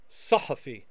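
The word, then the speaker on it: صحفي: Journalist is sahafi, sahafi. Emphatic S, emphatic H, sahafi, sahafi.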